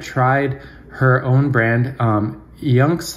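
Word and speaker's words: IUNX: her own brand um yunks I believe it's pronounced I NX which I found on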